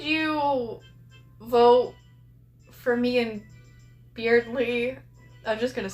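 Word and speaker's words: Berdly: Beardly because his name is Beardly. That's how it's pronounced.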